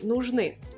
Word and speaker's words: нужны: Нужны. Нужны. I à la fin. Нужны, l'accent tonique sur le I.